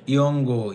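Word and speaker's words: 연고: ইয়ঙ্গো ইয়ঙ্গ অর্থ মলম, ইয়ঙ্গো ইয়ঙ্গ অর্থ মলম। এটা আপনারা উচ্চারণ করবেন ইয়ঙ্গো, কারণ নিউনের পরে যদি গিয়ক থাকে তখন নিউনটা ইয়ং এর মতো উচ্চারণ হয়।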